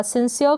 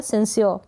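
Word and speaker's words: sincere: सिंसियर पढ़े या सिंसियर, यानी अ के बाद में हल्का सा आधे र का उच्चारण आप कर दें तो भी चलेगा, और ना करेंगे तो भी करेक्ट होगा। सिंसियर का मतलब है सच्चा या ईमानदार।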